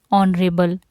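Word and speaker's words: honourable: और second rule है इसका, before words beginning with the silent H, जैसे कि आवर, ठीक है, ऑनरेबल, an hour, N ऑनरेबल, तो हम यहाँ पर भी एन का यूज़ करेंगे।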